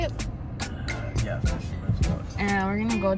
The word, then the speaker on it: Fisherman's Wharf: Yeah, Fisherman's Wharf.